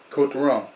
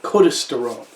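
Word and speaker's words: Côtes du Rhône: other little appellations inside quote the rome um interesting you say code toronto time now some people there's an s in there c-o-t-e-s d-u and then rome you don't pronounce yes i have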